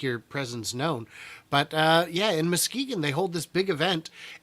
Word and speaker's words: Muskegon: the city council did confirm a few years back that for the day of these events, it is officially not Muskegon, but Muskegon. Still spelled the same, but you guys can call it whatever you want.